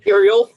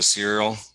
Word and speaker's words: Ciryl: Ciryl. Ciryl. There's a Y and an L. I mean, the C is a S instead of a K. This is ridiculous. So you just went to Ciryl?